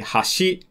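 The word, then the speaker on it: 橋: But if you say hashi, that means bridge.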